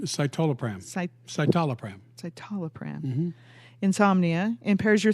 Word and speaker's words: citalopram: Citalopram? Citalopram.